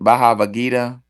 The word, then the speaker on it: Bhagavad Gita: Shiva used nuclear weapons in the how do you pronounce it? Bhagavad Gita.